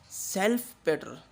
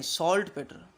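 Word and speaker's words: saltpetre: वो क्या है, सेल्फ पेटर, नहीं सॉल्ट पेटर, सॉल्ट पेटर। स्पेलिंग देख लो यार, RE ही है, ER नहीं है, PTRE, ER नहीं है, ठीक है।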